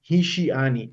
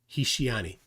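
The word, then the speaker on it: השיאני: in the Hebrew Bible, it's pronounced Hishiani, which means he beguiled me.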